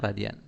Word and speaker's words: radian: Ini dibacanya radian.